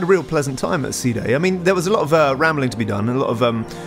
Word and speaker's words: Side: then got to um now i know it looks like side fairly sure it's actually supposed to be pronounced sea day that just sounds a